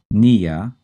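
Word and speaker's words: -pnea: refers to breathing well that's Nia spelled hyphen P Nea you can be a little silly and remember the spelling by going pania and in these terms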